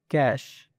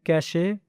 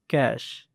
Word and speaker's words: cache: The proper way to pronounce it is cache. Some people pronounce it incorrectly like cache, but that is not right. The correct way to say it is cache.